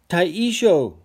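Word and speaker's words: Taishō: Sorry if I'm not pronouncing those properly. All right. Stop the presses. Taisho.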